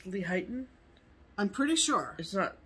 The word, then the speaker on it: Lehighton: the reason i pick lehighton is are you sure it's pronounced lehighton i'm pretty sure is that layton oh for sure it's not late it's lehigh yeah that much i